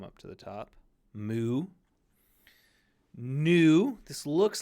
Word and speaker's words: nu: a v it's a new it's a new it's got that pointed bottom here so it's a new new so when you're reading this don't pronounce it V it's n NN new this is probably the